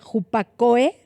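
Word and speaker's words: ὑπακοή: Pero bueno, la palabra obediencia es la palabra hupakoe con K también y acento en la E, que quiere decir escuchar con atención.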